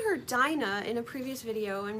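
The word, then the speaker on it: Dinah: But I believe her name was probably pronounced dena because the root of her name from the word dean which is what encapsulates religion, faith and a way of life.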